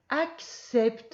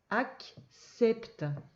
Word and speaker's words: accepte: pas, homme, bougonne, mais, accepte, il est un petit peu dur à lire celui-là, parce que le premier C ça fait k, et le deuxième C ça fait s. Accepte.